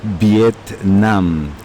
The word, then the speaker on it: Viet Nam: and of course of course viet nam i pronounce it once more viet nam now vietnam who is a back and right